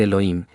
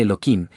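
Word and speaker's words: אלוהים: Justamente para que la gente no se malacostumbre a decir Elohim, Elohim, se dice Eloquim, cambiando el nombre tanto en la fonética de la Torá Temet como en hebreo.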